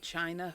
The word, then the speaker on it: Qin: Is that where we get the word China from? I believe so. That makes sense. Yeah. The Chin except A. It's Q I N, but it's pronounced Chin.